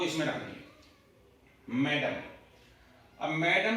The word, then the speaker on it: mesdames: इसका प्रोनाउंसिएशन है मेडाम। ध्यान रखना है, प्रोनाउंसिएशन बड़ा अजीब है स्पेलिंग के अकॉर्डिंग।